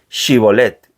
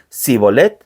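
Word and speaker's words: שיבולת: resp respondían que no les pedían que dijeran shibolet y si el fugitivo decía sibol porque no podían pronunciar esa palabra correctamente le echaban mano y lo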